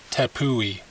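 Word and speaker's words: Tepui: it's pronounced tapui tapui i see a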